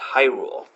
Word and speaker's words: Hyrule: To repeat, the secret word is pronounced Hyrule.